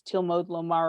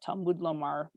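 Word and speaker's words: תלמוד לומר: pasuk with the words tilmod lomar or talmud lomar, depending on how you wish to pronounce them.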